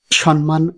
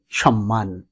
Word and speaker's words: সম্মান: সম্মান নয়, হবে সম্মান।